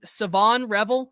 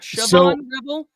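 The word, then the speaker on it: Shavon Revel: Is his name SavonRevel Jr.? It's not Siobhan Rebel. I I have been told the H is is silent.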